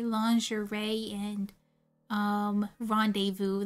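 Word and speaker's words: rendezvous: like lingerie and um rendevu like you're going to read rendevu is rendis you're not going to know it's going to be pronounced rendevu until you hear someone pronounce it rendevu desertation oh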